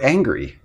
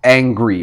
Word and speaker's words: angry: earlier angry what's the root of the word angry well angry is the root that's the basic